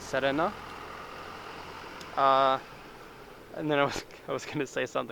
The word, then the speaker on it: Serena: And I think the Serena, like this, or Serena, I guess some people would call it Serena, but in Japanese you would pronounce it Serena.